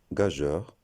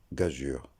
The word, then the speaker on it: gageure: Beaucoup se trompent dans la prononciation de ce nom. Et il y en a qui le prononcent gageur, d'autres gaguures. Mais la bonne prononciation correcte, c'est gageure. Et le E entre la lettre G et la lettre U sert à sonoriser le son je. Si on ne l'avait pas écrit, on le prononcerait gagueur ou gagure.